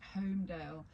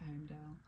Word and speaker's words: Holmedale: me at Home Sweet Holmedale. Now the tricky bit is that Holmedale is spelt Holmedale, Holmedale. It's got an L in it, hasn't so it? it's got a silent L.